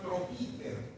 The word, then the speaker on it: troquíter: Y el tubérculo que se llama troquíter. Troquíter. Tiene tres sílabas, tres golpes de sílabas.